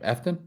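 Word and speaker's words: Efton: And then literally uh Chisum, how do you say his first name? Eftton. Eft. Yeah. Real simple.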